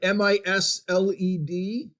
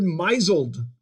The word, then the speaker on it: misled: lot of words uh she pronounced that word mizelled oh wait a minute she has been misled as how that is supposed to be pronounced but it sounds really